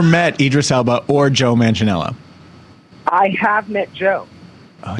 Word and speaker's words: Manganiello: It's like Idris Elba, Joe Magnan. How do you say his name? Joe Manganiello.